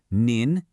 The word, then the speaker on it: 您: You have ni pronounced ni, which is informal, great for your friends and peers. But then you have nin nin, and listen to that subtle change in sound.